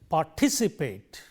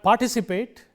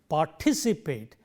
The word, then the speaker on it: participate: Applying the rule, third syllable from the end, 1, 2, 3. So, we say participate. It is not participate, but it is participate.